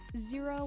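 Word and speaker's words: Xero: softwares track that like zero which is spelled x-e-r-o if zero does it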